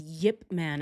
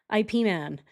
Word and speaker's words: Ip Man: His real name is Yipman. And you use you pronounce the Y, but it is said like IP as in dip.